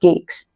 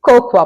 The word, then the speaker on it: cocoa: Example के लिए, she uses कोको powder to make delicious cakes. तो याद रखिए, कोको पाउडर ना कि कोकोआ पाउडर।